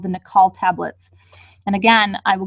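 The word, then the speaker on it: Naacal: And by the way, that's what I want to say, Nikal. So let me tell you how it's spelled.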